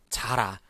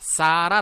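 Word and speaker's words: Zara: 잘 아니죠 사람 맞습니다 싸라 라고 발음을 해 주셔요 쌓아라 자라가 아니라 얼굴 죄송합니다 어 자 자라가 아니라 싸라 라고 발음을 해 주셔야 됩니다 그래서 이제 여러분 앞으로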